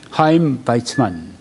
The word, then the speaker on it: 하임 바이츠만: 두 번째는 이제 하임 바이츠만 이렇게 발음을 하네요.